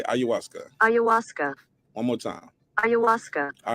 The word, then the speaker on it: ayahuasca: okay let me hear how i say it ayahuasca ayahuasca okay ayahuasca ayahuasca one more time ayahuasca all right that's how it's pronounced all right let's talk about it shout